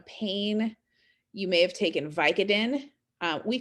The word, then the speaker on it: Vicodin: and ask for it you would ask for vicodin uh so the stress there is on the second word by co codin so let's think about